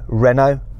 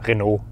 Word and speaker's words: Renault: How do you say Renault? Basically exactly the same, Renault. The French go Renault. You don't say it like